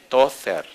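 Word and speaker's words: Tozer: y el apellido se escribe T-O-Z-E-R. En español se leería Tother.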